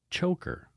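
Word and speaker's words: Tjoelker: for um it's choker but it's spelled TJ o e l k r so she said it's pronounced like choker so thank goodness it's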